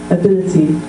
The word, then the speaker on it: ability: and I say ability so your stress was on the tar and mine's in the middle ability and can you say